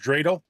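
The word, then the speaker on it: dreidel: Pronounced drele.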